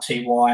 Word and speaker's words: Ty: in 1999 thai and it's pronounced ty not t y i said good guys